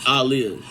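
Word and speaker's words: Aaliyah: Even Ananda got tired of people pronouncing Aliyah's name. I do too. It's Aliyah.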